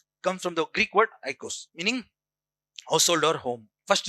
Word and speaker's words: oikos: Pronounce this oikos.